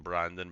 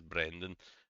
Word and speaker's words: Brendan: I think I called him Brandon, but I think it's Brendan.